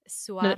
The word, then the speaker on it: Suara: Her name is Swara or Swara. Oh, hang on, say it again. No, Swara. I just want you to say it again. Yeah. Okay, say it again. Swara. And it's spelled Suara.